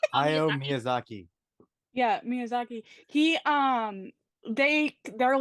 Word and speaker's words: Hayao Miyazaki: Rob, what to pronounce his name? Hayao Miyazaki.